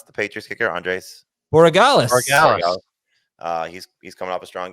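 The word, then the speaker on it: Andrés Borregales: And then, how do you pronounce the Patriots kicker? Andres Borregales.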